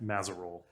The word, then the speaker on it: Mazerolle: Mazerole. Mazerole. Mazerol. Thanks. I would have butchered that up.